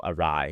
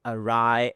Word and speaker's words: awry: This expression, when things go awry, when things go bad. But back then, I don't know that the word awry is pronounced that way. I thought it was awry because it's written A-W-R-Y.